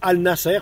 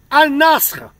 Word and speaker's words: Al-Nassr: maintenant à Al Nasser, comme vous dites en France, Al Nasser, parce que bien sûr, vous prononcez R quand il y a un R, c'est Al Nasser, alors c'est Al Nasr, voilà, point final, Al Nasr.